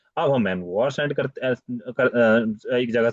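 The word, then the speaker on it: envoyer: में हम envelope send करते थे अब हम एनवुआ सेंड करते एक जगह से दूसरी जगह शिफ्ट करते हैं देते हैं एनवुआ ये एनवलप जैसा दिखता है एनवुआ एनवुआ ठीक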